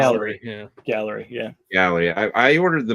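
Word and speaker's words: Gaahleri: Is that how you pronounce Gallery? it? Yeah. Gallery, yeah.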